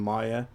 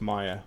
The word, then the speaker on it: Maya: these 3ds Max and Maya or mayor however you want to pronounce it I think it's Maya but yeah just how big